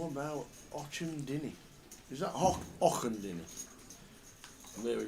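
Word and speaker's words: Auchendinny: How about Ochendinny? Is that Ochendinny? There we go. That's what we're going for. Ochendinny. That's what I'm going for. Just outside Edinburgh. It's got to be Och, because there's a golf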